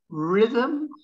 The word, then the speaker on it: rhythm: silent and then finally there's the letter h ghost ghost honest honest our our mechanic mechanic rhythm rhythm scheme scheme school school what what when when where where weather weather wire wire white white and why why okay so there's the